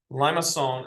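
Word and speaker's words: limaçon: like that and back it's called a limacon or liong it's actually how you say it it has an inner loop so liason is how you say it it's French but what that word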